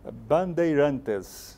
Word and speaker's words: Bandeirantes: you to help me out here, the correct pronunciation of the college that you represent in Brazil. Bandeirantes.